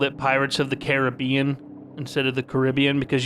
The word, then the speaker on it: Caribbean: sound like a fool it's Pirates of the Caribbean not Pirates of the Caribbean you sound like a sound like a man words can't describe what you sound like just don't just don't say it like that it's Caribbean and also it's caramel it's